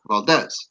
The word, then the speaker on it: Valdez: The hyphen is on the E, so the accent is on the E, so Valdez.